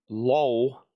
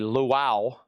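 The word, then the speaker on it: Lowell: Low George, thanks. I'll eat it here. He was in a band called Little Feet. And I still struggle pronouncing his name. It looks like LOL, but it's evidently Luau.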